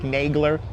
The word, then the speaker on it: Nagler: I'm pronouncing it to American, right? Nagler. It's Nagler. Yeah, Germany does have the best healthcare system in the world.